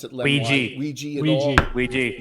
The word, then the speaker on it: Ouija: Doesn't We Jazz have an affinity for dark opals of this kind, or is my religion class failing me?